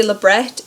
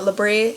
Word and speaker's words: labret: Yes, I say labret because it's pronounced that way. It's not labret, it is not a French term, but pronounce it however you feel like.